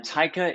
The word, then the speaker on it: Atoka: Yes, Atoka is the perfect way to pronounce it. Well done. What is Atoka?